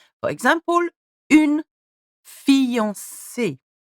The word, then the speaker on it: fiancée: For example, une fiancée. C. Okay, here we've got the S soft and the E with an accent aigu.